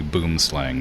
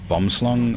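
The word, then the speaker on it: boomslang: Like it's like in in English that like that's clearly boom slang, but it's meant it's like pronounced like bumslung or something like that.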